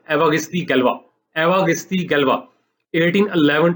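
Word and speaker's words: Évariste Galois: अब मुझे फ्रेंच तो नहीं आती, लेकिन ये मुझे पता है कि ये जो सही प्रोनाउंसिएशन है इसकी, ये है एवागिस्ती गैल्वा।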